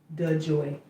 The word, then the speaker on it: DeJoy: His name is DeJoy.